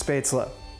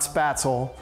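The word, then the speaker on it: Spätzle: favorite if they ever had it that is spesa and that's how it's pronounced it's not spatel so just be sure you're doing it right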